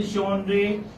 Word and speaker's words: genre: This is pronounced as ja, ja sound. So, like, how do you spell genre?